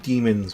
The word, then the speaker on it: daemons: So we have our leader of the pronounce it demons, but it's not spelled the same way.